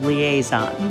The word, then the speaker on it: liaison: It's called liaison. That's how you pronounce it. It's kind of funky cuz it's got an extra vowel up there.